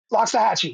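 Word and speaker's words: Loxahatchee: L O X A H A T C H E. Lockahachchi. Yeah, that's it. Lockahhatchi. Okay. Uh, good job. So, yeah. Thank you. I think I think I'm saying it right. Loxahi. Yeah. Uh, not mariachi.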